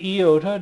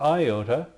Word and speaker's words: iota: And I do say iota, not iota, because it makes the sound E. Like in pizza, that kind of an E sound.